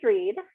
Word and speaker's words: Rhead: on how to pronounce my last name i didn't make any of my names easy so with two r's and the read with that h in there makes it a little